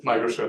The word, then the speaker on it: Migrasure: But maybe we can start with what you're launching right now, Migrasure, how do you pronounce it? Migrasure. Migrasure. I've always thought of it in Spanish, like Migrasure.